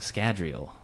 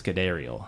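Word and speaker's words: Scadrial: And those included the shattered plants, but did those also include cuz they they included maps of Scadriel, right? Cuz she mispronounces it as Scadel when she's talking about it with uh uh Marray.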